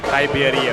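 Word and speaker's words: Tai Bierria: Thank you, Alexis, for that very insightful report about, I'm gonna go with her pronunciation, Tai Biaria, because nakausap niya si Tai. So let's go with that.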